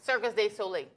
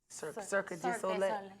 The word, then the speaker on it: Cirque du Soleil: Circus de Soleil. Cirque du Soleil.